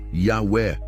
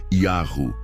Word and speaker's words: Yahweh: É Yahru, Yahweh, Jeová? A resposta mais coerente, segundo os textos hebraicos, nomes compostos e manuscritos antigos, aponta para a forma Yahru, presente em nomes como Eliyahu, Elias, Irmeiahu, Jeremias, Obadiahu, Obadias, entre outros.